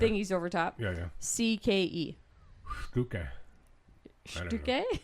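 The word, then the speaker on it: Stücke: Stuke. Stuke? Say it that way. Say Stuk. Stuk. That sounds more German.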